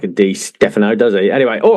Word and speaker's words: Di Stéfano: Is it D Stephano or D Stefano? Let's sort that one out straight away. I'm pretty sure in Spanish they don't emphasize any particular syllables, so I think it is Dphano.